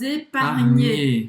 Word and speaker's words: épargner: Então, pour financer mes études, je dois épargner. Então, o GN, aqui, desculpa, Roberta, o GN tem quase o som do NH em português, mas um pouco mais pronunciado.